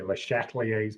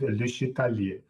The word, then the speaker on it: Le Chatelier: Americans who can't pronounce French say Le Chatelier's principle. But if you are French, you would say it in a ridiculous French accent, Le Chatelier. Le Chatelier.